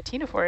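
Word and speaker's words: ctenophore: not know what a tina four is you might also not know that it is spelled with a silent c i did not know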